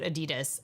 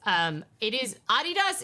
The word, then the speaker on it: Adidas: You probably pronounce it Adidas. Adidas is the proper German pronunciation, but I say both.